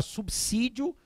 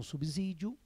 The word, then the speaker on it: subsídio: primeiro você já conhece devemos falar subsídio e não subsídio tudo bem a professora